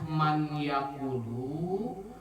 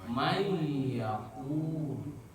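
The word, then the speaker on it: مَنْ يَقُولُ: Perhatikan man nun mati menghadapi yakulu ya yang bertasdid. Maka asal bacanya man yakulu, maka di idgham bigunnahkan, dileburkan menjadi may yakulu.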